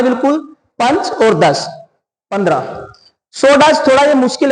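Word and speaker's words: षोडश: पंच और 10 15 सोडस थोड़ा मुश्किल है इसको अंडरलाइन करेंगे और अलग से इसको नोट करेंगे कि 16 को हम सोडस बोलते हैं इसी प्रकार सप्त दश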